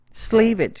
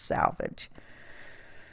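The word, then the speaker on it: selvage: decided to trim off the little salvage edge sleevage if you want to pronounce it that way but don't pronounce it that way because it's salvage that's where all the fibers get tied up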